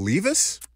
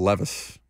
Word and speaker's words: Levis: out do he said he said will Lis yes he did mispronounce the name Will Levis is the starting quarterback